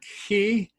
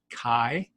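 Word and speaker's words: καί: ok moving down to people will say this is the key if you're a modern Greek if you're Erasmus it would be Kai so this is I I like I pronounce a Kai and that you'll see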